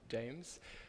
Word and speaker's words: JMES: with um James investment jmes so we pronounce it James we are a very